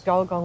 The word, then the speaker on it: Gulgong: By the way, sorry for saying it wrong. It's Golgong. We always say it wrong, both of us.